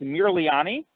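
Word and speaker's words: Mirliani: me with your last name yes uh it's Mir leani can you spell that for me please yes it's uh m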